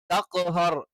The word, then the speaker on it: تقهر: فأما اليتيم فلا تقهر تقهر അത് തേ ആയി പോകാൻ പാടില്ല فأما اليتيم فلا تقهر وأما السائل فلا تنهر തെൻഹർ ആയി പോകാൻ പാടില്ല തേ എന്നുള്ള ഉച്ചാരണവും എന്താണ് അറബിയിൽ ഇല്ലാത്തതാണ് അപ്പോ ഫലാ തഖ്ഹർ ത എന്ന് തന്നെ വേണം وأما السائل فلا تنهر